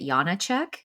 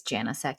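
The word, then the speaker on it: Janoušek: And if I was over there, they would pronounce it Janacek, but the American way is Janousek.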